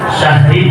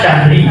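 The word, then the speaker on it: شهر: Syahri kan bacanya asalnya kan syahri, syahri ya. Syahri. Jadi semua Al-Quran, bacaan Al-Qurannya huruf ketika diwakafkan maka dibaca mati.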